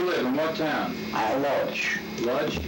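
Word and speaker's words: Łódź: Lodz? How do you spell it? L-O-D-Z.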